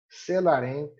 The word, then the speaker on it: Celarent: A leitura aí é barbará, celarent, darii, ferió.